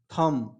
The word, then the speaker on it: thumb: यदि अगर चौथा एग्जाम्पल के बाद देखें तो THUMB थम, इसको क्या पढ़ेंगे?